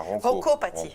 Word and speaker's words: ronchopathie: Non, c'est la ronchopathie. Non, la Roncopathie.